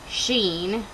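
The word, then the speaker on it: Sidhean: is a fairy named Sheen, which I had to look on Malinda Lo's website to figure out how to pronounce his name, because it looks like it's like Sidheen, but it's not.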